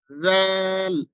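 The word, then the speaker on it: ذال: হয় না তো দেখুন জাল উচ্চারণ করবো আমরা জিহ্বার আগা এবং সামনের উপরের যে দুটি দাঁত রয়েছে সেই দাঁতের একবারে আগার সঙ্গে জিহ্বার আগাটা লাগিয়ে দিব জাল জাল এরপরে হচ্ছে আমাদের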